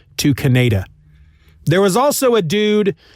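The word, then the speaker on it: Kaneda: interesting fact is cañedo his name is actually pronounced kannada the japanese pronunciation of his name is kannada but when they made the movie because they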